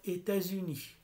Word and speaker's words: États-Unis: في الولايات المتحدة، الولايات المتحدة تلفظ هكذا إيتازوني، لأنه بيصير الليزون بين الإس والإو، بنقول ليز إيتازوني يعني الولايات المتحدة إيتازوني.